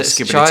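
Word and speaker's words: skibidi: Oh, it just didn't sound right because I think they put a lot more emphasis on the biddy, so skibbity.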